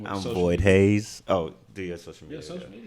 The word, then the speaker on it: Hayze: This is Void Hayes. Hayes is spelled Hayze.